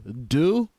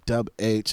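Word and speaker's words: Dubh: say it's pronounced do it's not dub H it's not dub it's do just so you guys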